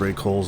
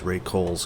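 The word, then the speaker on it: Rae Cole's: We just found this Ray Kohl's and we just always started going there.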